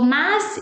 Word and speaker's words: mas: So mas e mais, they sound the same. They both sound mais.